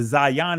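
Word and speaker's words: zayin: says in modern Hebrew so the Zion the Zion is the ancient pronunciation now this letter is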